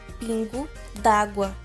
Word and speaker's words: pingo d'água: é foi substituído é a expressão se pronuncia da seguinte forma Pingo D'água e este sinal de